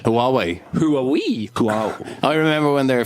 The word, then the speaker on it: Huawei: How do you pronounce the name of this company from China that makes starts with an H? Huawei.